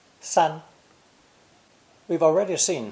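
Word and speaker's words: 三: representing the number three pronounced first tone sun sun we've already seen how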